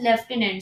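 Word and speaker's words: lieutenant: इस return sluten एंड बट इट इस pronounced अस लेफ्टिनेंट सो लेफ्टिनेंट D right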